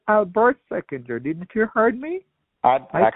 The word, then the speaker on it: Seckinger: I said Albert Seckinger. Didn't you heard me? I can't even understand that. You said your name is Adversated? Seckinger. Seckinger?